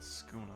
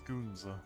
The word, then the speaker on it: Skoonza: I'll consult Skuza about this. Skoonza, sorry. I mispronounced my own clan leader's name.